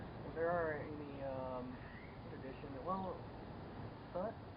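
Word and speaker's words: Tết: Well, Tet, it's a holiday.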